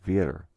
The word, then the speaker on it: vir: So if you translate the letters B and dare into Spanish, you get B-I-R, pronounced vir.